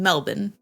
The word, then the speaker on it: Melbourne: so I'm spelling it m-e-l-b-i-n Melbourne there is an R better solid before our pronunciation got it so she